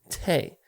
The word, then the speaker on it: te': The artist is Tay, or pronunciation Tay.